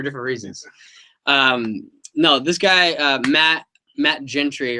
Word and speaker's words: Matt Gentry: No, this guy, Matt Gentry, right? Is that how you pronounce it, right?